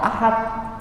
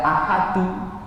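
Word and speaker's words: أحد: Untuk contohnya kul huwallahu ahad, bacanya kok ahad, enggak ahadu.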